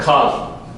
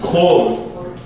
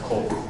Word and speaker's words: kol: spelled with the kametz, it looks like kal, but it's kol. For example, kol Yisrael, all of Israel. So it would have the kametz there, and so you would think that it's kal, but it's actually pronounced kol.